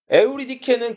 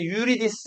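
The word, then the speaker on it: Eurydice: 에우리케는 그리서로 발음나는 대로 다 읽은 거고 이제 영어로 표현하면 유리디스 이렇게 표현하는데 자 클레오파트라 에오리케 클레오파트라는 그리스권에서 많이 사용되는 이름이었어요.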